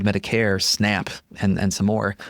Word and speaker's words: Medicare: Well, Medicare rhymes with hair, as in it's meant for people with no hair or white hair. It's for people who are 65 plus. Medicaid rhymes with paid. Medicare rhymes with hair.